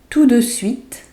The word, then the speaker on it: tout de suite: So the T in to, the last T is not pronounced. Tout de suite. Tout de suite. If you say it faster, then it's tout de suite. Tout de suite. So it sounds like the de is attached to the to here.